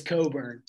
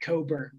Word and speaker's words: Cockburn: he's phenomenal we just need to say it's coburn how do you pronounce that coburn now his first name's toffee i believe he's